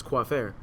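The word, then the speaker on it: coiffeur: know what because uh Barber and French is quair it's spelled c UI FF e r and I was like you know what nobody's going to pronounce that right so I just spell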